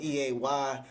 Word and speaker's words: Eay: um so i go by the name e that's spelled e-a-y i just pronounced it as e you know